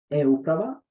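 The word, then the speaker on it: eUprava: And I believe that the e-uprava, that's how we pronounce it in Serbia, e-governments on English, is a way to go.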